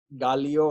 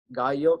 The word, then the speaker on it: Gallio: So the L is not pronounced as Gallio, or so they pronounce it as Gallo. So if you read it in with the Spanish accent, Gallo.